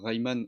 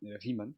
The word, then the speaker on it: Riemann: Il a travaillé sur plein de trucs, notamment l'hypothèse de Riemann, qui se prononce d'ailleurs Riemann. Il prononce Riemann dans le film. J'avais envie de les claquer. C'est Riemann. Bon bref.